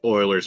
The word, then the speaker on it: Euler: Uer, you can't help it cuz I I thought it was Ulers. We We had a high school teacher that always called it Euler's number. Yeah. which is thinking back is a little shocking because I think I think the uh the teacher had a master's degree in math and I didn't know it was Oilers until a couple years ago and it's pronounced Oilers because it was a Swedish guy.